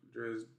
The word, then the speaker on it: Dresden: Dresden.